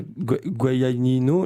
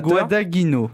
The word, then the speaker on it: Guadagnino: Alors déjà, ça se prononce pas Guadagnino, là, je sais pas quoi.